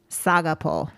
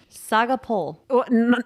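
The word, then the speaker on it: σ' αγαπώ: in greek tell us saga poll saga poll not a pole po saga yeah i like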